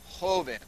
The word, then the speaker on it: joven: Say this, joven. That word is spelled J-O-V-E-N.